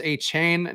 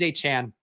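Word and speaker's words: Achane: Don't English teachers say if there's an E at the end of the word, the A is long, thus a chain? No.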